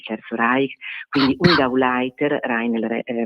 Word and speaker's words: Rainer: Reich, quindi un Gauleiter, Rainer, la pronuncia in effetti è Rainer, che doveva effettivamente rispondere